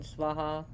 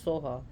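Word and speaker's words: svāhā: so like I said in tibetan pronunciation swaha becomes Soha which is in in this Sanskrit point of view is technically incorrect but but the Soha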